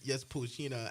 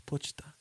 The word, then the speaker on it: Pochita: to see Pochina and Anya like drawings and cosplay just together.